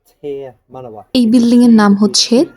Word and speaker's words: Te Manawa: So this building is called Te Manawa. এই building এর নাম হচ্ছে তে মানওয়া। Māori. It's pronounced like if you tear a piece of paper. Tear. Te for tear.